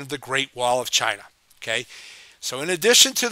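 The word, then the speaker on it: Qin: lineage back through time to shiang D okay China eventually gets its name from the Chin Dynasty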